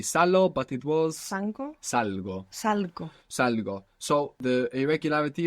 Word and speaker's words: salgo: Now, I leave or I go out is salgo. It's irregular. Has the g. sound popping up, salgo.